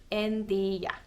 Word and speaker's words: en tiiä: It means I don't, and then tiedä is just kind of smushed and shortened into tiiä, en tiiä. There's no logic behind this, I don't think. It's just for ease of pronunciation and quickness, I suppose. En tiiä. It's like for a lazy mouth. So you don't have to say en tiedä, you can just say en tiiä. It's, quicker and easier to say, I guess.